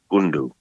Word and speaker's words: gundu: those words right, but it's a bit of a strong guttural sound where we pronounce a G and a K at the same time, and it's very easy to miss. We would say it's the gundu.